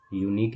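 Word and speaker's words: unique: तो एन आना चाहिए बट यूनिक एक ऐसा वर्ड है जिसमें वाई से प्रोनाउंसिएशन स्टार्ट होता है तो इसमें हम ए लगाएंगे ओके इफ लेशस आर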